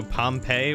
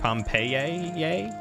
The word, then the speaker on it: Pompeii: Fun fact about Latin, the letters I are used as a single letter and pronounced AA. So Pompeii would have been pronounced Pompeii.